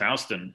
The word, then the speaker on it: Houston: to canal street houston very important yeah it's pronounced houston austin oh don't let the mafioso here i